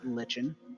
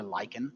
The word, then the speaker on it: lichen: There's more stone and less lichen or lichen, depends on how you like to pronounce it.